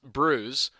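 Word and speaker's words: brewis: of cape sin uh asterisk fish and bruise pronounced bruise is a traditional newfoundland newfoundland dish made from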